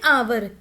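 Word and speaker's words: hour: Orange, an umbrella, an आवर। अब जो आवर है ये एच से स्टार्ट हो रहा है। वैसे तो एच कंसोनेंट है लेकिन आवर को बोलते हुए हम एच को साइलेंट रखते हैं। सो इसकी जो साउंड है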